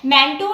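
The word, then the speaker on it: Mantoux: इसको यूजुअली क्या कहते हैं, मैंटो टेस्ट। इसमें एक्स साइलेंट रहता है, मैंटो टेस्ट इसको बोलते हैं, या फिर प्यूरिफाइड प्रोटीन डेरिवेटिव PPD।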